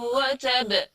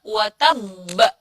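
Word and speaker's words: وَتَبَّ: Nah, yang betul insya Allah adalah yang ditasydid. Karena di ayatnya pun di situ ditulis adalah watabba. Watabba. Jadi kita bacanya watabba.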